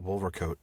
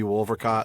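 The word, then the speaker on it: Wolvercote: found does say I I know it might be wolcot but what I found is it apparently is wolver coat for most folks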